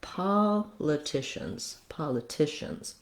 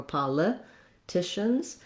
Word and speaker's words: politicians: So political, but politicians. So I don't want to stress that with a lot of length. I just use the clear vowel, and then my length comes on the tish syllable. Again, we have a schwa here or an I sound, pala or politicians. The letters CI say the SH sound, the sh sound.